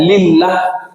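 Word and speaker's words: لله: Kalau alifnya di depan diambil jadi lam, ha, bacanya lillah, bagi Allah.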